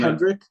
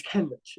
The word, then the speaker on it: Kenrich: Did you say Kendrick? I said Kendrick. Yeah. I used to say that. I know, right? No, it's Kenrich. It's Kendrick Williams.